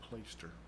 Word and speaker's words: plaister: Of course, today we use the word plaster, but it actually is pronounced plaister.